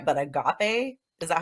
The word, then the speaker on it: agape: It was the archetype card called I don't know if I'm saying this right, but agape.